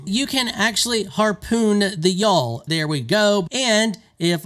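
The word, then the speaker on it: Gjall: when I called them gal apparently it's pronounced y'all you can hear the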